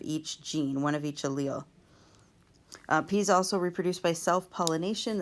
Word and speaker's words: allele: But each of these letters by themselves is the allele, and it's pronounced allele.